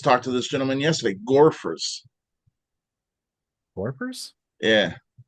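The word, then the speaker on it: Gorephers: to this gentleman yesterday gorer warpers yeah how do you spell that g o r e p h e r s oh like gopher but Gore yeah I'm gonna have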